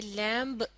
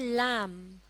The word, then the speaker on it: lamb: एल ए एम बी इस लफज़्ज़ में letter B silent है। यानी यह लिखा जाता है लेकिन पढ़ा नहीं जाता। इसलिए इसे लैंप पढ़ना गलत होगा। इसकी दुरुस्त अदायगी है लम।